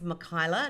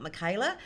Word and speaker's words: Mikyla: It's Mikyla, not Michaela.